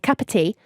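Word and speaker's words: Kāpiti: looked it up and the way you say it is capite in New Zealand so it's like saying cup of tea but in uh yeah capite in New Zealand your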